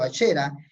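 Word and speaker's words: Asherah: Y ellos llegaron, los judíos llegaron a creer de que Ashera, Ashera en el hebreo, estoyando, pronunciando como se dice en el hebreo, Asera era la esposa de Dios.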